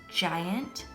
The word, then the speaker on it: giant: So this word is giant. It does begin with a soft G sound, so I'm going to move it over into the soft G column.